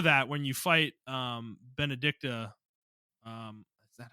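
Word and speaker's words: Benedikta: against um before that when you fight um benedicta um is that how you say her name I was forgetting her name yeah that's how you say her name benedicta yeah when you fight her in her primed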